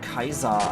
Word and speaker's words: Caesar: cleopatra aus so nebenbei genauso wie cäsar eigentlich römische republik knud caesar sondern kaiser eigentlich ausgesprochen wurde ist ja eigentlich